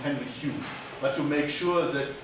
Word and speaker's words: Henry Home: So Henry Home is pronounced Henry Hume.